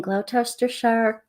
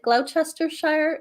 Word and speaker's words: Gloucestershire: She lives in Gloucestershire countryside with her family and muse mutt, Basil.